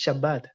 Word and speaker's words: Shabbat: special day which is shabbat uh am i pronouncing it right you're pronouncing it correctly and amazing and you sound like israelis when you say it so i i feel